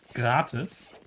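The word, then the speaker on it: gratis: way is also a German word which is pronounced gratus which means free in the sense of like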